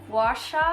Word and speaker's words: gua sha: A jade roller / a rose quartz roller / a gua sha, that's how you pronounce it, you know, just to up the skincare routine.